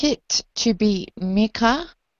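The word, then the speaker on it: Mikkah: I would like it to be Mika. I would like it spelled M-I-K-K-A-H, but pronounced Mika.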